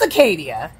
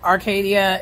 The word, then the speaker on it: Acadia: the content oh by the way it's Acadia I know a lot of times in the video I said Arcadia it's like a hor a lot of people do it and um that's not how you say it though and I know it's